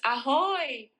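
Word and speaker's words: ahoj: It's ahoy.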